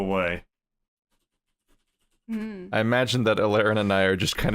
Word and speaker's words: Elaryn: Is that how it pronounce? Alaren. Alaren.